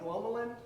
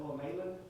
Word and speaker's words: glomalin: I say I say glomulin. How do you spell it? I've heard some people spell it call it glomalin. It's g l o m a l i n.